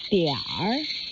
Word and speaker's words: 点儿: 点儿 means a little, and it's in the third tone.